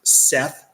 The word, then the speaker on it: Set: I don't think phonetically the name Sith and one of the names of Set is pronounced Seth. I don't think that's a coincidence.